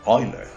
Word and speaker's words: Euler: in a math class the teacher followed the correct german pronunciation of the great leonhard euler but what i thought i heard was euler's formula even after reading it